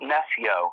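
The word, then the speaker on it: Nessjø: Nesso.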